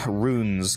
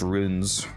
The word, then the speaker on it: runes: R U N E S ruins. Kazaroth, not ruins. Ruins are like a destroyed building. It's runes, like magical runes.